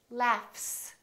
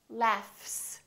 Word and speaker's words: laughs: example the word laugh this gh is actually an f sound right there's no vibration in my vocal chords so the f is actually a voiceless sound so that means the s that follows it will also be voiceless and we will say